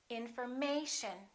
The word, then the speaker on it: information: don't say may shown we don't say information we say information once again information in